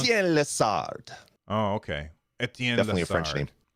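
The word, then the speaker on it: Étienne Lessard: Etienne Lessard.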